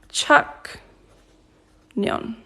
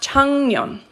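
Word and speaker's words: 작년: ilbon yeah last year Chuck Neon but it's pronounced chanyeon yeah Japan so in Japan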